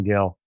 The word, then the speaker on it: Gil: Yeah, but that doesn't change the pronunciation, does it? No. No, it doesn't. No, it doesn't. It's It's all Gil.